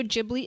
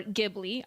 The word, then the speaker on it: Ghibli: those that don't know what studio jibli is or gibli I've heard it pronounced both ways I pronounce it the J way um but for those